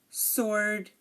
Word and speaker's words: sword: know um like answer sword and two the letter two the number two I'm sorry again answer sword and two the W here is silent and now um honestly